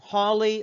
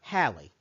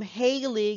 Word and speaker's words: Halley: to be an ah or or all so holly or halle so why do we mispronounce this well because there was a rock